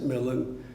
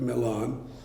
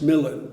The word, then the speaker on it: Milan: We pronounce it Milan because of the verse. It's actually, of course, the Duke of Milan.